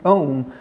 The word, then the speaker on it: Om: The word Aum itself, it rhymes with the word home.